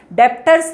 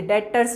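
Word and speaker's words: debtors: डेटर्स और क्रेडिटर्स में ये ब है ना साइलेंट होता है डेप्ट्स नहीं बो बोलते डेटर्स बोलते हैं ठीक है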